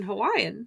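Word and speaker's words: Hawaiʻi: Nauyo So right, then I have to learn Hawaiian. now I'm going to teach you. So you may not have known this, but in Hawaiian, W's, much like in German, what is that? W's are pronounced like V.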